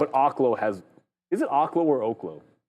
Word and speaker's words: Oklo: Oklo is actually pronounced Oaklo and it's not even something that we can